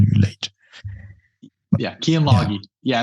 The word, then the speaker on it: Lage: It's a way to pronounce it that sounds more like the Northern Europe countries, But is it that?